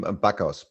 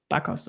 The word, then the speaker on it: Bakaus: Yeah, I mean, Bakaus. Bakaus is the best one. Yeah. Bakaus. Yep. Bakaus. Okay. Cool. All right. That's the German pronunciation. You can also go with Bakaus.